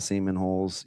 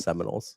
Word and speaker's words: Seminoles: You talked about the Seaman holes. You've got it's pronounced Seminoles.